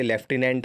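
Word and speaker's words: Lieutenant: बेटा इस स्पेलिंग को ध्यान रखिएगा, 9 नंबर पर जो स्पेलिंग है, ल्यूटिनेंट लिखते हैं, बोलते लेफ्टिनेंट है, लेकिन आपको ये चीज़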